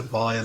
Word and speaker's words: vial: I'm just going to assume you pronounce that vial with a V, like you do these days. Like, file is strange, but maybe that is the old school way of saying it.